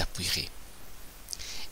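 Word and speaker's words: appuierez: futur simple vous appuie je ne prononce pas le E mu donc le y que nous avons ici va se changer en I vous appuyerez et il balayait une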